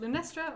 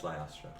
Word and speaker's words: Lyastra: Is it Lunestra or Lyastra? It's Lyastra.